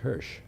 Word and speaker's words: Hirsh: Here is Hirsh. Did I pronounce it right?